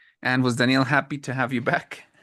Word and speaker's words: Danielle: this yesterday but um when you say Danielle and you say Danielle is a woman actually an English that